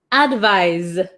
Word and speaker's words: advise: or recommend it's a verb one more time pronunciation advice advise okay okay so we'll do really quick number